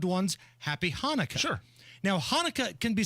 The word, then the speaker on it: Hanukkah: Now, Hanukkah can be spelled a number of different ways. Could be spelled with an H, could be spelled with a CH, but the C is silent.